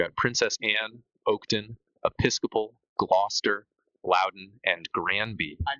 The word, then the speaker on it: Gloucester: Oh, is that how you say Glouester? Uh, Gloucester. Yeah. Okay. Anybody that's British can feel free to tell me I'm saying it wrong, but that is my understanding.